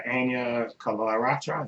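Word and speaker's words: Anya Chalotra: There's a character in it, a sorceress called Yennefer, played by Anya Kalaratra. That's how you pronounce her name.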